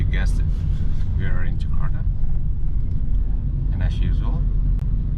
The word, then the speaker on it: Jakarta: So throughout this uh video I'll be saying Jakarta which is the western way of pronunciating you know the capital city of Indonesia. The correct way of you know saying it is Jakarta.